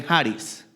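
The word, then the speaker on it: χάρις: en el idioma griego se escribe chariz en español y se lee jaris y eso es gracia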